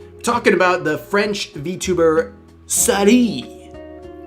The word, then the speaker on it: Saruei: We're a little more open on this stuff, but we're talking about the French VTuber Saruei, right? That's how you pronounce her name.